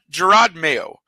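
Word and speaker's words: Jerod Mayo: Gerard mayo and that is the way you pronounce it I had to look it up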